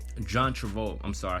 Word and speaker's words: Travolta: um denzel was a leading role character also john travell john travolta i'm sorry i said his name wrong john travolt um another legendary actor um